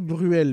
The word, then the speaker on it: Bruel: D'ailleurs, on dit Patrick Bruel, mais vu comment ça s'écrit. Un bidon de fuel, on dit un bidon de fuel, donc ça devrait être Patrick Brioul, pas Patrick Bruel.